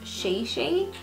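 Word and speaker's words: Chichi: how it was like it's not pronounced Chi-Chi it's pronounced sheii I don't know I'm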